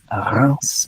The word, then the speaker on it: Reims: He joined Paris Saint-Germain from Reims, which is spelled R-E-I-N-S, but it's pronounced Reims. It's my best pronunciation. It's not very good, but it's not bad, which is the capital of the Champagne region.